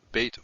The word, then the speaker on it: Beit: Beit with the dagesh is a b sound, as in boy. And without it is a v, as in van. So Beit, pronounced b or v, depending on whether it has this dagesh or not.